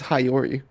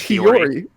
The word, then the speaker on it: Hiyori: How can you say it as Hayori? How do you pronounce it? It's Hiyori.